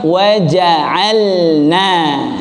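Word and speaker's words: وَجَعَلْنَا: Padahal bacaan lam dengan nun itu dibaca wajib ilhar, jelas ya, wadih, harus jelas. Waja'alna kita ucapkan waja'alna lagi waja'alna ya, lam dengan nun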